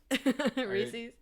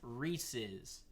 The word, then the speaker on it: Reese's: It's Reese's, because it was originally founded by a man with the last name Reese, and you put an apostrophe S at the end of it. So it's pronounced Reese's.